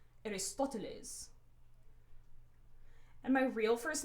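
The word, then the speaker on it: Aristóteles: And then I pronounced my grandfather's name with this really formal Mexican accent. Aristoteles.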